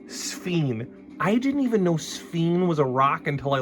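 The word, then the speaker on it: sphene: I didn't even know sphen was a rock until I looked it up. It is straight up a rock. A rock no one has ever heard of. One that rhymes with the word queen.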